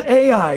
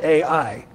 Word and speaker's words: Ai: The next place that Israel was to take out was a little village, a little town called Ai, and it's spelled A-I.